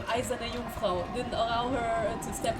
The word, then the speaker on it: Eiserne Jungfrau: First Let's Player in history to correctly pronounce Eiserne Jungfrau. That's because I'm German. I'm half German. Battler jumped. I'm half German and Eiserne Jungfrau is a German word.